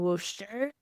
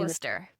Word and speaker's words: Worcester: We just got back from Nerks, which was in Worster. I'm saying Worcester. Worcester. Yeah, every time I say it wrong.